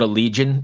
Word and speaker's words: Allegaeon: me with this name I always call it a legion is that that's correct yeah it is okay yeah there's a